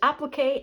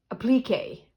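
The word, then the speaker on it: appliqué: to say applic because there's applique and applique and I think she says app and we in North America say applique uh accent on a different syllable and I do not have applique applique pins.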